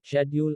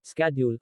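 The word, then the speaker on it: schedule: उच्चारण pronunciation शेड्यूल का उच्चारण ब्रिटिश में शेड्यूल और अमेरिकन में स्केड्यूल होता है।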